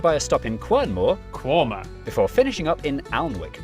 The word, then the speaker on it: Quernmore: Mousehole, Next, travel north up to Towcester, Toaster, then a quick jaunt to Gotham, Gotham, followed by a stop in Quernmore, Quorma, before finishing up in Alnwick.